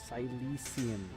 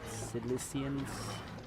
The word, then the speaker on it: Sicilian: Silician. It's pronounced Silician, not Silicians. Sicilian, as I say.